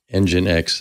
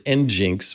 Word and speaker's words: nginx: have to admit that i didn't learn how to pronounce engine x until just now i've been reading this as njinx because i that i